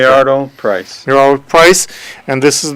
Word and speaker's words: Milliardo Pryce: How do I pronounce it correctly? Milliardo Pryce.